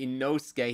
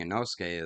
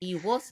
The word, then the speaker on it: Inosuke: so now she just remembers it, so she's Imosuke, calling, Iwosuke, yeah. Ikosuke.